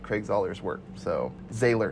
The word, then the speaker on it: Zahler: So Zahler.